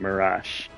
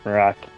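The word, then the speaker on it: Malak: I always pronounced it mirage, but Marac does actually make more sense.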